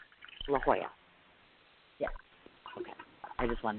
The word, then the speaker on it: LaJoya: not how you say the name, but it's pronounced LaJoya. LaJoya.